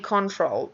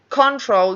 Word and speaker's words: control: And careful with saying control. It doesn't. The word control doesn't exist in English. It's always control. So it's always going to have that second syllable stressed.